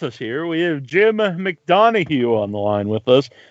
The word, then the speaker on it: McDonough: Hey guys, this is I'm McDonough. McDonough. And right. You know what? I love mispronunciations. Back in like fifth grade, yeah. I was in CCD, and my CCD substitute, which is an interesting dynamic, called me McDonut.